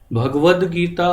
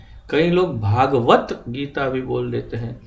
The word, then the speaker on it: भगवद्गीता: भगवान कृष्ण का नाम भगवद्गीता और भगवत भगवत कुछ नहीं भगवन अधिक भ्रष्ट श्रीमद्भागवत भगवद गीता भगवद गीता भगवत गीता तो यह सामान्य गलतियों में बहुत बड़ा फर्क पड़ता भगवद गीता भगवत भगवत